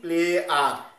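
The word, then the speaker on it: pliers: প্লেয়ার বা combine প্লেয়ার আমরা যে প্লাস উচ্চারণ করি প্লাস উচ্চারণটাই ভুল এটার উচ্চারণ হবে কি প্লে আর প্লে আর কম্বিনেশন প্লেয়ার এটার নাম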